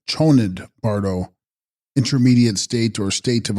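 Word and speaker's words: Chönyid Bardo: Text: Chosnid Bardo, pronounced Chonid Bardo, intermediate state or state of uncertainty during the experiencing of reality.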